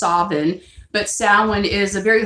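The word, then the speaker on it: Samhain: is the Irish holy day in Scotland is pronounced oven but Salman is a very holy beautiful night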